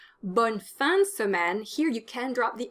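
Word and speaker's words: bonne semaine: drop the uh in smen you can't say bunsmen because that gives you three consonants in a row and that doesn't work in spoken french bonsamen bonsamen here you can drop the uh after the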